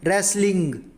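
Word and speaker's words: wrestling: English में बोलते हैं रेसलिंग रेसलिंग मतलब कुश्ती और आप एक बात जरूर ध्यान रखना की रेसलिंग में व साइलेंट होता है नेक्स्ट है तीरंदाजी तीरंदाजी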